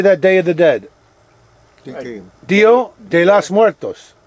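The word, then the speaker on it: Día de los Muertos: Dio de los Muertos. Dia de los Muertos.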